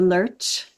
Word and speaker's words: Lerche: In Danish, we pronounce it le but it but I usually pronounce it lurch when I speak.